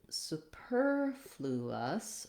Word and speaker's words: superfluous: of the vowel then when we get to superfluous we have a different syllable stress pattern so here my stressed syllable is on the per that's going to be longer and the others are going to be shorter interestingly this one doesn't have a change in the vowel sounds so we still use that ooh vowel in the first syllable superfluous so it's a